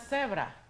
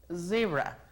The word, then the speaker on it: zebra: Aquí no es cebra. Así decimos en español, cebra. Pero en inglés es zebra. Zebra. Nos damos cuenta exactamente cuando estamos diciendo esta palabra maldicha, porque decimos cebra y nos suenan las cuerdas vocales comparado con zebra y sentimos aquí el vibrar.